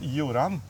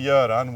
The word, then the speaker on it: Göran: letter in their alphabet, it's now pronounced Joran, but it's actually Göran, which is also a Scandinavian name.